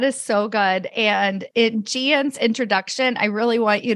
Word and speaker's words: Gian: I tell people the pronunciation of my name is like good night GN. And that's why when they work with me, they have good night's sleep. I'm Gian, originally from Shanghai.